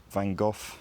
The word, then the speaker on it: Van Gogh: I'm I'm going to lean on the fact that van go certainly was used to people pronouncing it wrong because he lived in England and France over the course of his life and so I don't feel bad about pronouncing it in an English way here um so in general